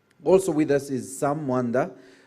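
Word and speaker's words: Mwandha: Also with us is Sam Mwanda. You notice I added Mwanda. That's how it should be pronounced.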